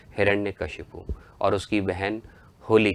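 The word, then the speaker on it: हिरण्यकश्यप: असुर सम्राट हिरण्य कश्यप जिसका सही उच्चारण सही प्रोनाउंस है हिरण्य कश्यप और उसकी बहन होली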